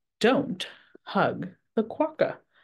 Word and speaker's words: quokka: A quokka is pronounced quokka.